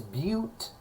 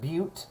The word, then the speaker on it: bute: And then 4 carbons is bute, not but, it's pronounced bute.